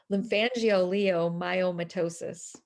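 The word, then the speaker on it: lymphangioleiomyomatosis: long name Leo wait I said it wrong lymphangio Leo myomatosis and it I have cysts on my lung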